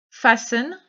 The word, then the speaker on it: fasten: Fasten your chin strap. Donc vous mettez bien le T en vert entre parenthèses parce qu'on ne prononce pas le T. C'est comme dans listen, c'est comme dans mustn't. Ok?